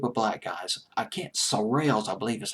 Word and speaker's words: Shirelles: was the group of black guys I can't surreal as I believe is how you pronounce I'm not sure how to pronounce it it's SOR TLS well the Shirelles the surreal when they're singing the song in